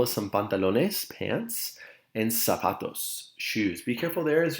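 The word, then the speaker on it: zapatos: some pantalones pants and sapatos shoes be careful there as you pronounce the word sapatos the Z does make an S sound in Spanish so we should say sapatos over here on the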